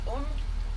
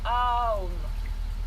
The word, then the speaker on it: Om: Et on va prononcer le son Om. On va le faire 3 fois et ensuite on va changer le sens des bras et des jambes. Sachant qu'on le prononce Aum.